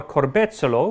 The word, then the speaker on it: corbezzolo: and the fruit of the strawberry tree, or corbezzolo, which is the national tree of Italy, and despite its name has nothing to do with strawberry. Is it? I mean, yeah, I know the word corbezzolo, you pronounce it really well, Max.